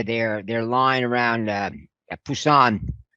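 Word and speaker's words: Pusan: they're lying around uh busan fuson as it's pronounced in korea uh was collapsing again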